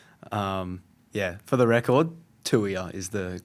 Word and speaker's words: Tuia: I get the lot but um yeah, for the record Tuia is the correct pronunciation. So so you said you tell me it was So it's the number two and then ear.